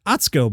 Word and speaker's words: Atsuko: Atsuko is pronounced Atsuko, by the way, and her last name is pronounced Okatsuka, which is good because that's how I've been seeing it.